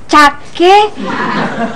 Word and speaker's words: cake: Namanya kue cake kacang almond. Lu mau bikin kue apa cakwe? Ya bikin kue, Mak nih. Orang tulisannya begini noh. Iya kan? Cake kacang almond. Cake. Itu bahasa Inggris, Oneng, dibacanya kik.